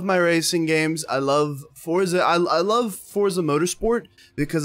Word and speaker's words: Forza: Forza Horizon 4. Fuck yes. I love Forza, or Forza. There's no T.